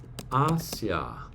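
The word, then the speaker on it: Asiā: Asia EST sua in Asia notice sua in AIA with a long a sound the macron over the a vowel at the end sua in Asia number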